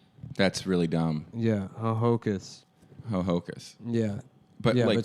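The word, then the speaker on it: Ho-Ho-Kus: lot of the August Secaucus yeah but it's it's spelled h-o--h-o-k-u-s that's really dumb yeah Hohokus Hohokus yeah but yeah but Secaucus that's another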